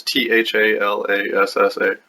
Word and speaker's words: Thalassa: Mesmerized by the beauty of Thalassa, I might be pronouncing that differently than some people. It's Thalassa.